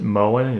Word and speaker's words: Moen: happens to be, I think you would maybe pronounce it Moen, it's M-O-E-N, but there's Delta, there's all kinds of different faucets, and they all work just a little bit differently.